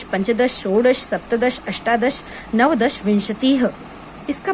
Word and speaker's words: विंशतिः: पंच, षट, सप्त, अष्ट, नव, दश, एकादश, द्वादश, त्रयोदश, चतुर्दश, पंचदश, षोडश, सप्तदश, अष्टादश, नवदश, विंशतिः। इसका प्रोनाउंसिएशन याद रखिए, विंशतिः।